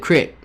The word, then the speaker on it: creek: Now, my family has always said crick. Some places do pronounce it crick.